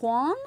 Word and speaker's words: Juan: Like Juan or One? W-A-N. Juan. Like the number.